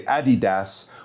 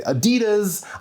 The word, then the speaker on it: Adidas: But you might notice that people in Europe might say Adidas whereas people in North America might say Adidas. I'm not sure which is right. But both of these are common. But Adidas is easier to pronounce. Adidas. Well, unless you grow up saying Adidas.